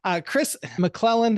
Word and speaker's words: Kris McClelland: But this is Kris McClelland.